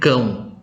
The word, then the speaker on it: cão: Tandanya di atas huruf A, lalu diikuti O, bacanya cão, artinya anjing.